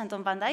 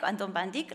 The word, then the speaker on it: Anton van Dyck: largo de la conferencia verán que pronunciaría la neerlandesa antón banda y anton van dyck las dos son correctas por si notan que cambia un poco la pronunciación s se trata del mismo del mismo autor para ello para hablar